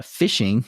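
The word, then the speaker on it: phishing: um in another podcast but it's spelled pH I sh iing G it's it's like fishing but with a pH instead of an F that's what um bad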